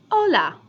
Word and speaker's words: hola: just your basic hello hola okay it's spelled with an H but the H is always silent in Spanish always unless it's compared